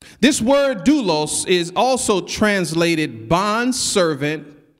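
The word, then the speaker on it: δοῦλος: The word Paul used here that's translated servant in a Greek word is pronounced doulos. This word doulos is also translated bond servant or slave.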